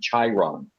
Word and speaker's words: chyron: the other people will catch it okay scott it's spelled c it's chiron as c-h-y-r-o-n so it might be chiron chiron i've heard it referred to as the